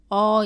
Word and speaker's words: 어: 발음합니다 따라해보세요 다음 모음은 어 입니다 어는 먼저 왼쪽에서 오른쪽으로 쓰고 위에서 아래로 씁니다 어 를 발음할 때는 아 보다 입을 살짝 다물고 입은 내밀지 않고 발음합니다 따라해보세요 어 다음은 5입니다